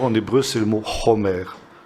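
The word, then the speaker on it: חומר: Et vous avez un mot proche du mot chamor, en hébreu, c'est le mot chomer. Ça s'écrit exactement de la même manière, ça se prononce simplement un tout petit peu différemment.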